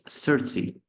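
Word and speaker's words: thirty: How it's pronounced is like this: 13. You have to make it extend like 13, but 13 is 13. But when it comes to pronounce the 30, it's 30. It's not extended. Just it's like short sound, like it's not stand yet.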